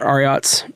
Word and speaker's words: Ariat: I actually do have a pair of Ariats.